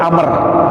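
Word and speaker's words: عمرو: Kalau tulisannya ain mim ra kemudian ada waw setelahnya, bacanya Amr. Abdullah bin Amr.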